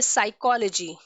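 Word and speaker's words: psychology: Okay, in the same way साइकोलॉजी। साइकोलॉजी, ठीक है, P silent होता है।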